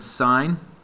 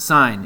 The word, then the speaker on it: sine: it I'm just kidding it's not sin it's sine it's pronounced a sine if you say sin